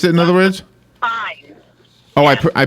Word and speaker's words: Fiennes: Okay, so his name is pronounced Fines?